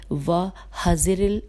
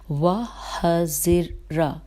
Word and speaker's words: وَحَذِرَ: لکھا ہے کہ وَحَذِرِ اس کی ہجے کر لیتے ہیں کیونکہ تھوڑا سا اس میں 1-2 زیر زبر پیش آدھے میٹے میں۔ وَحَذِرَ، ہاں جی، واو پہ فتح ہے، ہا کے اوپر فتح ہے، وَحَذِرَ الْإِقْلَالَ، ٹھیک ہے، یہ